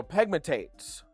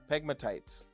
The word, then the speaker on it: pegmatites: So, pegmatates are essentially pegmatates. Pegmatites, God, I I hate that I say it wrong.